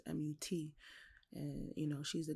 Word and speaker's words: Mut: And then you had the mother goddess, which is Mut or Mut. I'm not sure how other people pronounce it, but it's Mut, and you know she's the goddess like of motherhood.